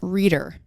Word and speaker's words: Reider: about to call her we have mary ellen reader that's how you pronounce the last name reader writer writer writer writer and we'll ask her